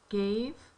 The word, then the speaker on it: gave: never makes sense gave is g a v e it is a silent E makes that a say its name our next one is